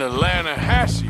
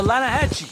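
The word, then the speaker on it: Lannahechee: some beautiful steelhead trout you mean atlanta hassey river no no no no no the the lana hatchy it runs right near here yeah but it's pronounced land ass why is everything in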